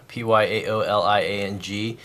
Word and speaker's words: 漂亮: Pyaoliang. It's pronounced 漂亮. So it's actually Chinese for Mandarin Chinese for pretty.